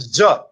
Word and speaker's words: Xi: Well, it's called Z. Not everyone's going to be able to pronounce it.